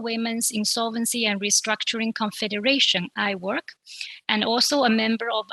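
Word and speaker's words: IWIRC: there coming up giving you some information on iwork it is pronounced i work it's a little play on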